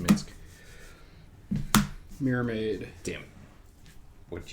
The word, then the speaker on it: Minsc: It's pronounced Minsc.